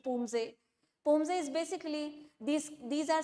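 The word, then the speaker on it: Poomsae: medal in the individual Pumase under 30 category. So, or say Pumse as we call it, the pronunciation Pumse.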